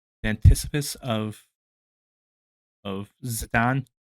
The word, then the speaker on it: Zidane: like the antithesis of Zidane, who I now call him Zidane. The proper way to pronounce it's more like a French name.